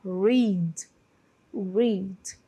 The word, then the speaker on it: read: Então, no passado você lembra da cor vermelha, que é a mesma pronúncia, red, red. E no presente, a pronúncia, né, do presente aqui do verbo é read.